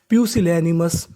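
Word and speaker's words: pusillanimous: प्यूसिलेमस प्यूसिलेनिमस प्यूसिलनिमस प्यूसिलनिमस प्यूसिलनिमस प्यूसिलेनिमस का मतलब होता है कायर तो मीनिंग क्या बनी हमारी प्यूसिलनिमस नीचे वाली मीनिंग को पढ़ते हैं।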